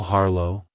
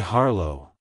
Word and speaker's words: Harlow: surname it's pronounced as harlo harlo harlo to pronounce it correctly emphasize the first syllable h r and pronounce the second syllable low with a soft